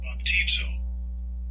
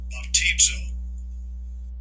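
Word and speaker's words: βαπτίζω: Baptizo. Baptizo. So there you have the ability to listen to how they pronounce that particular word.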